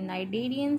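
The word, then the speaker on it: cnidarian: Lastly हमारे पास जो invertebrate की क्लास है वो है नाइडेरियन, सी साइलेंट है, ये भी वाटरी एनिमल्स हैं, और एक इसकी एग्जाम्पल है जेली फिश, ठीक है।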